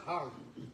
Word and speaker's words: HAY: By the way, the couch soles, the hay couches, I think we may have told you about that. Apparently they're pronounced har.